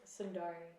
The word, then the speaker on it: Sundarri: apple music what's your name on apple music sundar sorry how do you spell it s-u-n d-a-r-r-i nice okay so okay so